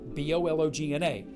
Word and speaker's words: Bologna: in a town spelled b-o-l-o-g-n-a but they pronounce it get this bologna without the g how do you like